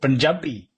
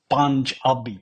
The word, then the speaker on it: Punjabi: Not Pun-jabi. That's a mistake.